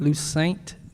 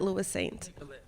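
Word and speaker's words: Louissaint: Our next nominee is Lucent. Did I get it right? Close. How do you say it? Lewis Saint.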